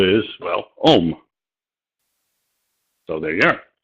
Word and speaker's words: ohm: pronounced omega, is the same as its first syllable is, well, ohm.